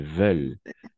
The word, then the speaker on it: veulent: fait pas ce qu'ils veulent ne l'est pas ent à la fin on le prononce jamais veulent préviennent et ici tu peux